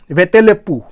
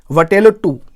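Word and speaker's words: வட்டெழுத்து: Tamil वेतेलेप्पू, sorry I एम not able to pronounce it, वटेलोट्टू, right.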